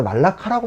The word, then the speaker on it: 말라카: 원래는 이제 요즘에 물라카란 말보다 말라카라고 많이 하는 것 같아요. 저도 이제 발음을 바꿔야 되는데 이제 계속 쓰던 말이 있으니까 되는데, 이 말라카 해협의 지배자는 말라카 왕국이었어요.